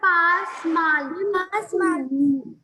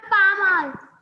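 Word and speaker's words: pas mal: I told you, beta, consonants in the end will not be pronounced. Ma'am, pa mal.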